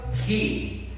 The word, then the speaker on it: he: she y el sujeto he. El she vendría siendo S, H, E. Mientras tanto, el sujeto E vendría siendo H, E. Esta E que vemos al final se pronuncia como una I.